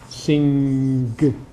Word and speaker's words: sing: Okay, so what it means, as I began to talk about last week, is that sing drops the g. Okay? But finger doesn't drop the g.